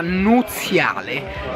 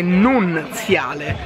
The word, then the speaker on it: nuziale: adesso c'è la torta nuziale che ho scoperto chiamarsi così invece che nunziale Ma la n Non si dice Cioè tutti dicono nunziale mi è sbagliato si dice nuziale e sono più che